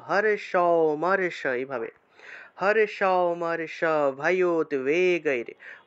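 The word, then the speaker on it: ভয়োদ্বেগৈঃ: হর্ষ মর্ষ ভয়োদ্বেগৈর, ভয়োদ্বেগৈর, যে ভয়োদ্বেগৈর, এই শব্দটাকে এইভাবে ভয়োদ্বেগৈর উচ্চারণ করতে হবে।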